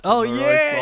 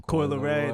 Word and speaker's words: Coi Leray: like, actually, it's not Kid Leroy's song. Fuck Kid Leroy. Who is Kid Leroy? Some nigga that Steve don't like at all. Yeah. I was hoping he wasn't, like, mispronouncing Coi Leray.